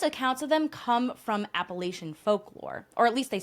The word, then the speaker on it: Appalachia: in New Jersey and we would call it like the Appalachian Trail, but we're gonna try to stick with Appalachia as the pronunciation since that's how they say it in the southern US states where most of these stories come from.